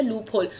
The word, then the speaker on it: loophole: Loophole से याद आया that yesterday I heard somebody pronounce loophole as loophole. Loophole. I shouldn't judge anybody on that. But let me tell you, it's a very clear pronunciation.